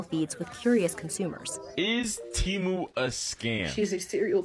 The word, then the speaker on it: Temu: they're freaking gaslighting you the name of the company is Teemu not temu I'm going to be